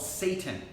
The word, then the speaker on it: seitan: There's one called Seitan. Quite honestly, that's what it's called. It's not spelled S-A-T-A-N, it's spelled S-E-I-T-A-N, but I still think it's pretty,